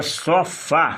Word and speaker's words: sofá: no plural por exemplo a palavra sofá é a sílaba forte essa daqui ó pá sofá você não diz fofa gente sofá e se você quiser